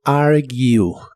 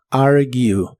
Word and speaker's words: argue: de inglés es argue se pronuncia como argue argue en el presente lo puedes